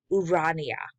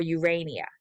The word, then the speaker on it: Urania: and that is called the countess of montgomery's urania or urania however you choose to pronounce that and sonnet cycle pamphylia to amphilanthus